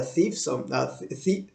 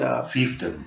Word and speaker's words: fiefdom: they're not going to rise up out of a thief. How do you call it? Fiefdom.